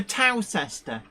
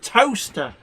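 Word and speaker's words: Towcester: seeing Road signs for toester and like I'm sorry but like you know T that's how it's spelled but no it's pronounced toaster like you know toaster to um Grox is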